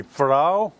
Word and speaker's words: Pharaoh: Title हुआ करती थी फराओ और फारो, depends on हाउ you pronounce, and it means king.